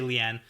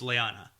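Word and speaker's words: Leane: a and E yeah it's easy to say Lian but technically the audiobooks it's Liana Liana yeah I like that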